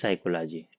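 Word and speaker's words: psychology: Diploma in guidance साइकोलॉजी पी एस वाई मतलब साइको में P silent रहता है तो साइको लॉजी ठीक आइए प्रश्न संख्या 206 की तरफ बढ़ते हैं।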